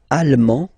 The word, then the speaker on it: allemand: L'Allemagne, allemand, allemande. Okay, same thing here. Okay, you don't pronounce the final D, but then you pronounce it here for the feminine form.